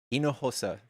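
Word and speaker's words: Hinojosa: W I still don't know how pronounced her last name. Hino Yosa. She's She's dope. She's dope. In Hosa, Inohosa, thank you.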